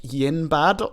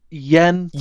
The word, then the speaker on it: Yen Sid: He's called something like yinbad or something like that. It's Yen Sid.